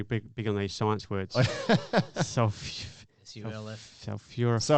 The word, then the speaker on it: sulforaphane: They just got tons of sulforaphane, which is Right.